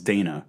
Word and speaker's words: Dana: I always thought her name was Dinah, and it's Dana.